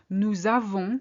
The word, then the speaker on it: nous avons: Nous avons, which is the formal we have. Notice that we link here. Nous avons. We don't say nous avons. It's more difficult.